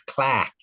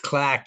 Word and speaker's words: Clark: You got to say it right, though. It's Clack. Clark. It's Clack University.